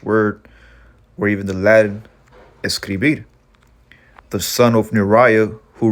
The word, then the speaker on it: escribir: word obscurity or darkness and today's word is escribir escribir again the spanish word of the week number two it's pronounced escribir and that's where you get the word scribe